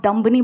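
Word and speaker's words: dumb: चलेगा next time आप दुम्बानी बोलोगे आप डंब बोलोगे क्योंकि 20 साइलेंट है समझ रहे हो ये मेरे लिए नई बात है आप का रहे हो डंब नहीं होता है दम होता है ऐसे कई सारे वर्ड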